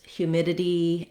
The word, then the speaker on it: humidity: Today's request was for the words humidity and fluidity. This viewer was talking about how it was difficult for them to pronounce the ditty ending. So the suffix ditty has two flap sounds, and it's challenging.